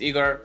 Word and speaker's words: Ihor: Hi, my name is Igor, pronounced with hard G, and I'm a videographer and video editor.